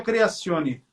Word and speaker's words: Creazione: Creazione, que se pronuncia Creazione. Criazione.